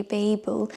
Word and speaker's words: Babel: Kuang, and I know in America you might pronounce it Babel, but I think in England we say Babel.